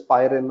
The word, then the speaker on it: Pywren: If you're interested in that, have a look at something called as Pyren on GitHub. It is spelled as Pywren, right?